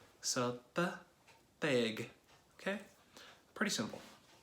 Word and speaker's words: Tegh: People don't usually have a problem with the G, but they have a problem with the T. Okay, so that's that. That's how you pronounce my name.